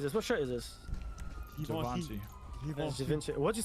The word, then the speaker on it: Givenchy: Givenchy. Givenchy. What'd you say? How say again? Givenchy. Givenchy? Who the fuck pronounces Givenchy?